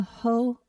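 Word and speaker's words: Hoh: northern hemisphere and visit the whole rainforest pronounced like ho you may even spot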